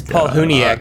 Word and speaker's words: Palahniuk: it's Paul Huniak, actually. No, just... It's like Palahniuk.